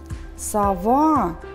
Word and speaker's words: сова: вам поставим ударения сова давайте произнесём первый глаз на звук слове совы с уловы гласный звук о сова гласный звук а скажите пожалуйста одинаковые